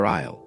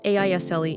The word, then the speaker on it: aisle: Another useful phrase, "Where can I find the pasta aisle?" Aisle, a i s l e, and here's the thing, the s is completely silent.